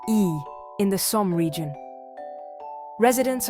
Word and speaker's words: Y: For our grand finale, a town with the shortest name in France, Y, just one letter pronounced E.